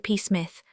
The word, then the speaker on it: Psmith: Pith. The P is silent as in pea shrimp.